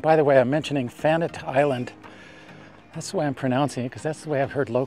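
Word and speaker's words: Fannette: And by the way, I'm mentioning Fanette Island. That's the way I'm pronouncing it, because that's the way I've heard locals pronounce it.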